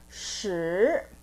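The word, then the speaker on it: 十: but prolong sound then number 10 is shi shi like shirt shi of course we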